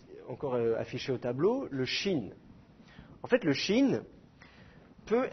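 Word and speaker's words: שׁין: Donc, dans certains cas, le Shin ne va pas être prononcé che, il va être prononcé se.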